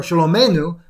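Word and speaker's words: שלומנו: Shalomnu, our, shalomenu, is how you pronounce that, shalomenu, our peace.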